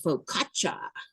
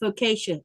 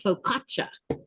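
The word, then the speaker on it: focaccia: You might hear people call it faucia. That's not how you say it. It's faukatcha.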